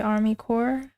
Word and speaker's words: Army Corps: and there oh was K I used to pronounce Army cor Army corpse wait it's not pronounced as Army corpse are